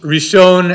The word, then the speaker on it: ראשון: For an example, think about Hebrew three words, Rosh, Rishon, and Reshit, all of which contain a silent aleph, never pronounced, which, in a sense, the aleph represents three different vowels in these three different words, O, E, and A.